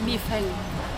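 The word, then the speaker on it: 米饭: I think rice, if you want to say rice, it's mi feng. Mi feng. Mi feng? Mi feng. But that's in Mandarin, not in Cantonese.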